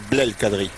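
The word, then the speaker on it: Blel Kadri: Alors puisqu'on en est à soigner les prononciations, on va dire Biel Kadri. Biel Kadri. Parce que sinon on va lui faire couler une bielle avant l'heure. Hein. Biel Kadri. C'est pas Biel, c'est Biel, ouais.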